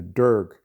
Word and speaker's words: Derg: The army set up a regime called the Derg, that's spelled D-E-R-G, which is an Oromo word, Ethiopian word, meaning essentially council.